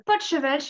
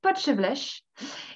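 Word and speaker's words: Potjevleesch: Donc, nous avons le potchevêche aussi, qui s'écrit donc Potjevlesch, le potchevlesch, et les fameuses boules frites, évidemment.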